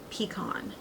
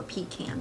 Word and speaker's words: pecan: the shades Walnut and pecan or pecan depending on you know where you live how you say it so let me